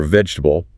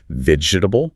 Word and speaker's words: vegetable: So for vegetable, many learners want to pronounce all 4 syllables clearly. Vegetable. Right. But it's actually more like vegetable, often just 3 distinct sounds.